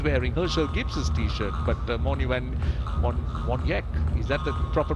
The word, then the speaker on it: Morne van Wyk: So the W is pronounced V. A bit on the flip side to what you do here in Sri Lanka, where the V is the W.